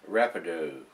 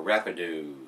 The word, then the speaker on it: Rapadou: a portal Brew with Haitian Rapido or Rapido I guess that's how it's pronounced guys and they're out